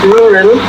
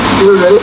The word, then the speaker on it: rural: for me to it it is difficult because of the consecutive R sounds which are not common in Mandarin this is because Mandarin R sound is pronounced differently than the English R sound the mandarine r is